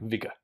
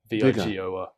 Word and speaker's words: Weigel: You'd say in America, Vigor. Vigor.